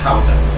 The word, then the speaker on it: Gouda: of the famous Gouda showed up, or pronounced Gouda, if we're trying to Gouda.